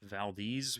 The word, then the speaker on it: Valdez: So, Valdez, which absolutely ridiculous way to pronounce that word, but apparently that is actually how it's said.